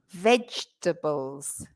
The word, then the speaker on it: vegetables: Vegetables. So vegetables. 3 syllables, not Vegetables. 4. 3 syllables, not vegetables. Mm-mm. And you stress the first Vegetables. syllable. The first Mm-hmm. syllable is the strong syllable.